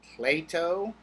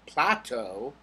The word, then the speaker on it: Plato: three when we talk about Greek philosophers Socrates platoo Aristotle make fun of the people who say Socrates or Plateau it's Socrates and Plato and Aristotle I want